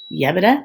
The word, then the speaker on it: Yebra: So while most of you know stuffed grape leaves as dolma, we actually call it Yebra. That's how we pronounce it.